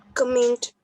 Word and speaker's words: comment: It's comment, not k but ka. A sound is there, and you have to pronounce it comment, not k. Okay. So many of the people, even these maybe into every talk and speeches and everywhere, people will call it comment, but it's comment.